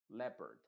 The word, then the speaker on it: leopard: e modificada es decir la o es silenciosa y la e se pronuncia con el sonido Perdón modificado que sería le en vez de Leo sino simplemente la le y luego perd leopard que es el leopardo y a